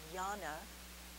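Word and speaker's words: jnana: into the study of yana yoga spelled with a j it's a hindu word these are hindu terms and yana means discrimination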